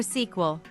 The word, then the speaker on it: SQL: L, or sequel. Okay. Interesting. If you wouldn't have said anything now, I would have called it squeal from now on.